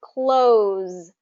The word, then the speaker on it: close: that descriptor word um but if it's a verb and it's then it has that z sound at the end close will you close the